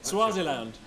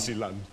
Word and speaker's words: Swaziland: Swaziland. No, I think you'll find it's pronounced Switzerland.